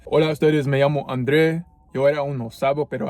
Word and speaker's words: André: I would always put the accent on the E to pronounce my name André. But everyone in school would call me Andre, and the teachers would call me Andre. And my name in English is pronounced Andre.